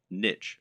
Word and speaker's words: niche: Or, to use the correct internet business parlance, what is your niche, or niche as some people pronounce it?